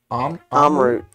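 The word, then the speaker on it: Amrut: Amarut.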